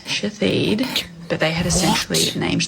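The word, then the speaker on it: Shithead: It was sh hi- t h e a d pronounced shahid.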